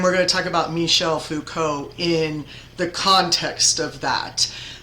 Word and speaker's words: Michel Foucault: That is how you say it, Michel Foucault, a French philosopher and critical theorist who actually, surprisingly, is not considered a rhetorical theorist necessarily, but in fact a critical theorist.